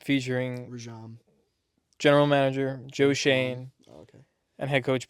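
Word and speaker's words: Schoen: We got the new regime, Joe Schwan, and Joe Schwan. Shane. Shane. Shane. It's all right, That's how you pronounce it. Joe Shane.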